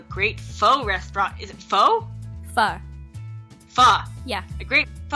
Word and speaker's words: pho: Is it pho?